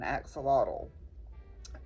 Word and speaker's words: axolotl: And if you pronounce it in the Noat people's native language, the X is pronounced with an SH, and a TL is mostly a T sound, a hard T sound.